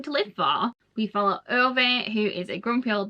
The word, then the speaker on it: Ove: Yes, I know, a lot of people have said it's meant to be pronounced Uva.